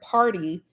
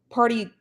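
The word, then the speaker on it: Pardi: okay so i guess megan the stallion's boyfriend party i think that's how you pronounce it p-a-r-d-i is coming for tory lanez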